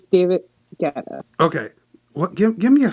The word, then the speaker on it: Guetta: Yes, it's David Guetta.